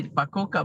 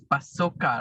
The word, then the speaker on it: Pacoca: and no because i say pakoka but you are saying actually it's pasoka right hey listen i i